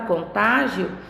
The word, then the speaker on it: contágio: da sílaba tônica tá então no na palavra contágio eu tenho a sílaba tônica no tá já na palavra contágil